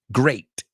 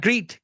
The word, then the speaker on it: great: you look great right great I've heard people say gre gre it's not greet GRE so great eight fate right um Kate well